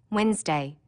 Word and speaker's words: Wednesday: that you don't hear Wednesday don't forget the D NE e and that it